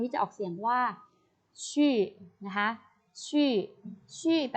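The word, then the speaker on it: 去: นะ คะ คำ นี้ จะ ออก เสียง ว่า ชื่อ นะ ฮะ ชื่อ ชื่อ แต่ ว่า ไป ค่ะ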